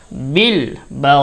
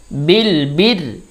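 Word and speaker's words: بالبر: আনাসা বিল বা লামজের বিল বার রজের বির বির বিলবির এখানে র উচ্চারণ পাতলা হবে বারিক হবে বিলবির র বিলবির বিলবির বিলবির ও জবর ওন জবর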